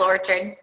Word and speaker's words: Orchard: her tortured or turn like the apple orchard okay so this is